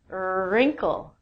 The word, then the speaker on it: wrinkle: Next one is wrinkle.